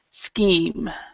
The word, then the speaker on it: scheme: far-fetched um very good so even though this has an sc it become the C becomes a k sound scheme all right number eight